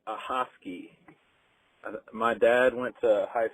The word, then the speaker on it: Ahoskie: Hey, I heard y'all talking about towns that you can't pronounce, and I think you were trying to say Ahoskie.